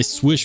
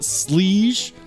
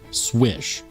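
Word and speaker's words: Slysz: how you say it it is not SLE it's not slish according to Spyderco you pronounce the name as marching swish if you don't like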